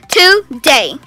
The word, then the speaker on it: today: There are two syllables, today. আচ্ছা তো আমরা অনেকেই এই ওয়ার্ডটাকে টুডে বলে থাকি কিন্তু এখানে ডেতে একটা স্ট্রেস হবে টুডে ওকে টুডে yeah now spell the